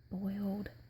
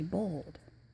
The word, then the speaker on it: boiled: You would say it like I just said it, boiled. Now, here we say bold.